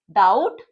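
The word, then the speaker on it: doubt: डाउट, डी को half किया हमने टी के लिए, बी की साउंड हमारे लिए साइलेंट है, डाउट, फाइनल में डिप्थोंग साउंड ओ डब्ल्यू।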